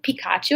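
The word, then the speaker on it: Picacho: It's like Pikachu, I believe is how you pronounce it.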